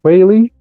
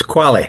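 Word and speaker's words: Qualley: Pig Hill opposite Rainey Quy. Uh I hope I'm pronouncing that name right. I don't know. Quali. It's Quali. Quali. Okay.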